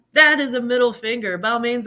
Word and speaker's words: Balmain: Balmain's like, well, it's pronounced Balmain, but we're American. We say Balmain.